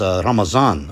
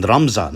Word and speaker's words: Ramadan: as ramazan or even ramzan i've heard right so the word is spelled with a dud you know with this character dad but the letter is pronounced zad in farsi and urdu uses hence why you